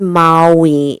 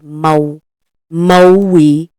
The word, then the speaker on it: Maui: that's the ISA of Mai and it's not pronounced Ma Moi it's pronounced moi moi m a u i Mo Moi that's the correct pronunciation and we lived in